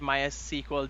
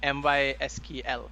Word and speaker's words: MySQL: three or four years that was a really butchered version of that name it's my s sequel my sqo sql uh mysql that's it yeah yeah yeah my sequel